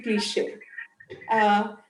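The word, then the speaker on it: cliché: It's not cliche, it's cliche. You have to pronounce it. This is a hyphenated thing which is there at the and above E. You say you pronounce it to be cliche. Souvenirs.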